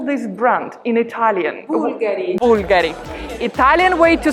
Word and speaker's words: Bulgari: let's find out what's the correct way to pronounce this one how would you call this brand in italian bulgari italian way to say this brand is bulgari